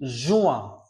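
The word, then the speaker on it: juin: পঞ্চমটা হচ্ছে জুনের ফরাসি জুয়া, জু, জে ইউ, জু আ। ই এন এর উচ্চারণ বর্ণযাত্রী আমরা জানি আ, তাহলে হয়ে গেল জুয়া, জুয়া।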